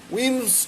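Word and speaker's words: Wilms: স্পেলিংয়ের সঙ্গে প্রোনাউন্সিয়েশনটা যেন ঠিক হয়, এলের উচ্চারণ হবে না। উইমস টিউমার অথবা নেফ্রোব্লাস্টোমা, যেটাই তুমি বলো না কেন, নেফ্রোব্লাস্টোমা বললে আবার জানতে চাবে এর আরেকটা নাম কি।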